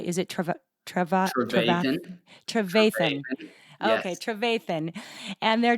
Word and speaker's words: Trevathan: Trevathan.